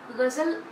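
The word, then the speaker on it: ग़ज़ल: बहुत से लोग इसको गज़ल बोलते हैं, कोई झ को डबल जेड का ऐसा उच्चारण होता है, लेकिन ऐसा नहीं करना है, हमको गजल बोलना है, गजल।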